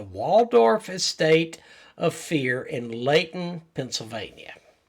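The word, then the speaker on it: Lehighton: location was the Waldorf Estate of Fear in Leighton, Pennsylvania. Leighton, Pennsylvania. Yes. Oh, wait. Leighton. Yeah. Spelled with a C.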